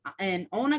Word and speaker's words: Iona: So you spent 11 years and Iona College. Is that how you pronounce it? Because Iona.